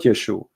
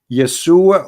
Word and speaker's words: Yeshua: You say yes, Yesu, but there's no side no Yeshu. What Yeshu? It is Yeshua or Yeshua.